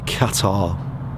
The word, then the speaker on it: Qatar: lawn so yes people in america would or in you know the americas would say was it cutter they call it yeah something like that whereas we'd say qatar which i think is the correct way to say it personally of course ask someone from qatar if they have someone from there yeah they'll probably say completely different maybe they'll say quattro there's no you though